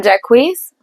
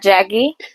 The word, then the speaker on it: Jacquees: And I'm Jacquees, not Jackie, not Jacquees, Jacquees.